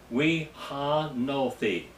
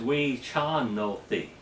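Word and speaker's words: וְחַנֹּתִי: Here, it would be we ha no thi, but the correct pronunciation is we chan no thi. Chan, not H, but CH.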